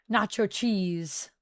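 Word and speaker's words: Natchios: Nacho cheese. That's how we say it.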